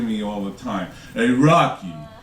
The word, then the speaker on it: Rocchi: My name is Rocky. It's spelled R O C C H I, but it's pronounced like Rocky.